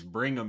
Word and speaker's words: Brigham: Am I not saying it right? Brigham. There's no N in there.